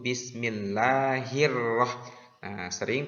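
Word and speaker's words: بسم الله الرحمن الرحيم: perlu diperhatikan di dalam lafal Basmalah adalah ketika pelafalan huruf rok bertasydid yaitu Bismillahirrohmanirrohim terjadi kesalahan di sana harus ditasydidkan huruf roknya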